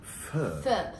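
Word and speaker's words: Feu: My sister's called us all for lunch to a place called Pho. It sounds like a French place, but it's a Japanese place. It's yeah, absolutely right. It's spelled F-E-U. Sounds French, but it's Japanese.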